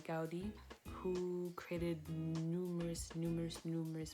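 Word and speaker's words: Gaudí: another famous architectural building created by Goya no non Koya dowdy created by Gaudi who created numerous numerous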